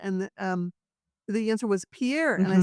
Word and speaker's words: Pierre: And um, the answer was Pierre. And I said, "That's correct, but you pronounce it Pier." And the machine said, "No, it's Pierre."